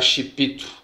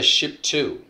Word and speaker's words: Shipito: vídeos e tudo mais, eles costumam pronunciar Chipito. Mas é pela, vamos dizer assim, é portuguesando a coisa, né? Mas na realidade é Ship2.